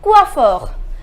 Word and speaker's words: coiffeur: we say we offer the pronunciation is coiffeur na sure comes the